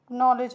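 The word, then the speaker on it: knowledge: के एन ओ डब्ल्यू एल ई डी जी ई तो नॉलेज हो गया। के साइलेंट है यहां पे। के एल साइलेंट है नॉलेज ठीक है नॉलेज सॉरी के और डी साइलेंट है नॉलेज मतलब होता है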